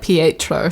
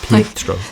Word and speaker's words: Pietro: I'm sorry, my accent is warping his name. They say it like Pietro. Like, they really... Pietro. Pietro.